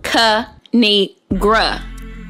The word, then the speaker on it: Kinigr: me tell y'all a thing of three it's pronounced ka-ni-gra now subscribe oh i crack myself up thanks